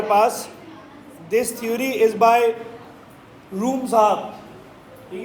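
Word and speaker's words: Vroom: तो ये जो थ्योरी है हमारे पास, ये रूम की थ्योरी है, और जो है इसको याद रखो, इसको आपने रूम पढ़ना है, वी रूम नहीं पढ़ना। तो उसका जो वी है वो साइलेंट है, जिस तरह कनाइफ का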